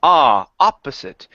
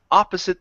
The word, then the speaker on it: opposite: All right, here instead of opposite, the word is opposite. He stopped opposite the child. He stopped opposite the child. Opposite. Pronounce that ending there. Opposite.